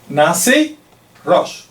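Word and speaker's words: נשיא ראש: Así que, le voy a decir, príncipe soberano en hebreo se pronuncia de esta manera. Nasi Rosh.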